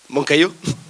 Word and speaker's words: Moncayo: C'est la bonne prononciation? Moncayo.